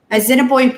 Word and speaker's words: Assiniboine: Assiniboine Park.